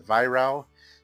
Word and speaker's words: Weihrauch: So I've been getting some grief about how I'm pronouncing it, but I have been told by a couple of different Germans that's the right pronunciation for that. So until an actual German tells me that I'm pronouncing it wrong, I'm going to keep pronouncing it that way.